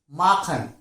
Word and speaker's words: machen: That means if CH comes after AOU, the sound would be K, like Machen, Sachen, Buch, Kuchen, Handtuch, Bauch, Doctor. You can see all these words CHES is followed by AOU. First AOU and then CHEN is written. So in this case, the word is pronounced like K, Machen, Sachen.